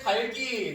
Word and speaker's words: 닭이: 1번에 달기, 그죠? 달기라고 발음하는 거, 맞죠?